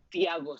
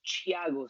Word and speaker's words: Thiago: like you translate it into Spanish and it's Thiago Silva, but his name is Thiago Silva.